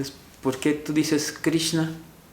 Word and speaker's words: Krishna: Es que cuando tiene un puntito abajo de la R, quiere decir que es Kri, y si es un puntito abajo de la S, es SH, entonces se pronuncia Krishna.